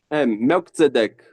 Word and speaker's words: Melchizedek: Okay, so you've recently been consecrated as a bishop in the, I would pronounce it, Melchidezek Gnostic Church, but I think you pronounce it as Muzadek. Melchizedek.